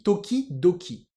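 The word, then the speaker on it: 時々: de temps en temps ça se lit Toki Doki alors on a le TO qui devient do la règle de l'accent et puis ça se lit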